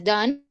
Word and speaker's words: done: Entonces, be cambia a been, do cambia a done con una e al final, se dice done, pero se escribe con una e al final.